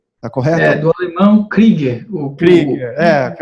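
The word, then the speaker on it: Krüger: O professor, me desculpe aqui se eu errar na pronúncia, professor. Kruger, está correto? Do alemão Krieger. Krieger, que é o tremado aqui, Krieger.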